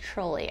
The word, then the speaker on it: Trolli: light trolley trolley okay after some research it is actually pronounced trolley i do apologize okay